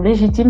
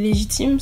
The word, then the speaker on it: Lejitim: Et petite précision, Légitime, ça s'écrit comment, s'il vous plaît?